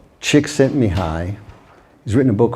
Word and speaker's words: Csikszentmihalyi: with an almost unpronounceable name, which I can pronounce. Csikszentmihalyi.